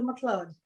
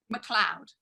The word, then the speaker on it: Macleod: Is it Macleod or Macleod? Macleod. It is Macleod, because I have a friend of mine, Lewis Macleod, but it's spelt Macleod.